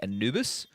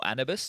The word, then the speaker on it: Anubis: they need it will be Anubis or annabis depends on how you want to pronounce it do you know I